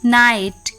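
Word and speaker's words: night: डब्लू नो के एन आई जी एच टी नाइट के एन ओ टी नॉट के एन ओ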